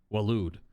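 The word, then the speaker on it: Waloed: the kingdom of walude that word always makes me want to pronounce it differently but it's just like walude that's it in the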